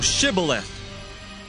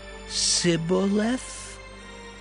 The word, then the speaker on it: Shibboleth: said they unto him say now shibboleth and he said sybil for he could not frame to pronounce it right then they took him